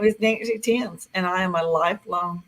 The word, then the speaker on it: Thames: proud to be here I pronounced my last name Tims like the Tims River in England it's really different and